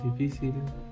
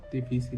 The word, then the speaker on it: difícil: Por ejemplo, árbol este difícil y lápiz. Por ejemplo, árbol la tiene la a difícil en la en la segunda I. y lápiz en la primera a.